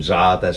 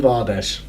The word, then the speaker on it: Zardes: gone to Galatasaray, and Zardes is out and things like that, so they needed Zardes. I remember that. Your mate. Interviewed him, said his name wrong. Good start. Called him Vardes.